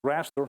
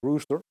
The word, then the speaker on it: rooster: see is actually pronounced rooster and it means grid more like raster not rooster and is obviously used